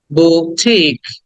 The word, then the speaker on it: boutique: উ এর পরে একটা উ, লং উ, টি এর পরে লং ই, উঠিক, বুঠিক। উটাকে টেনে বলতে হবে, টিটাকে টেনে বলতে হবে, লাস্টে ক, বুঠিক।